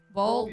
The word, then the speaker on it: Vogl: Vogl. Vogl.